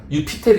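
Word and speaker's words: Iuppiter: 그 주피터가 또 목성이기도 하고 점성학에 또 관심이 많았으니까 또 행운의 별이라는 또 닉네임도 있고 이래서 유피테르 있잖아요. 거기서 이제 제2 발음이 유 발음 나잖아요.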